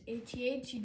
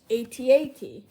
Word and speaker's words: AT-AT: I'm very sorry for the delay, but without further ado, let's get into the Star Wars Black Series AT-AT driver.